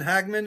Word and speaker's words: Hagman: We're speaking to Hagman. Is that how you pronounce it?